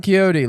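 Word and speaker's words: Quixote: it real well Don keyote looking back on you know Don keyote I think is originally spelled with an X yeah for the Q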